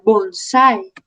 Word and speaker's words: bonsái: En este caso la letra A, la vocal A, lleva acento, lleva tilde.